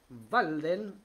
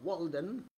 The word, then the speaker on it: Walden: leerles este pequeño párrafo de walden o walden ustedes quieran eh pronunciarlo sea en su término vald alemán o inglés de eh Henry David